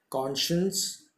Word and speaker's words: conscience: यहाँ पर जैसे SCI, तो ये SC और I को श प्रोनाउंस करेंगे हम, ध्यान रखिएगा। कॉन्शियंस और कॉन्शस, कॉन्शियंस, कॉन्शस, ऐसे आप लिख लीजिएगा। प्रोनाउंसिएशन भी कॉन्शियंस, श आधा ना और स पूरा। कॉन्शस, कॉन लिखने के बाद श और स।